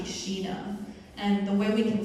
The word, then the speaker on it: Sheena: And the correct pronunciation, so 11 Labs says Cine, but the correct pronunciation is actually Sheena.